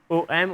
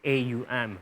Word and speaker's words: om: the discussion with people is om om or is it a um so do you pronounce two syllables or do you pronounce the three syllables when you chant the ohm so that's a big discussion i think yeah when we're changing the ohm it's om but the other um aum also had has a meaning